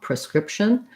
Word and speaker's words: prescription: i don't think so i think pretty much is entirely a unstressed reduced vowel in the beginning with that schwa prescription um if you